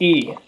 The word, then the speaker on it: い: to the same length in English we would use the letter i for this sound but it's not pronounced I it's not pronounced I it's pronounced e always say you saw